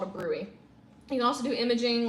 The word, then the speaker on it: bruit: It looks like bruit, but it's pronounced bruit.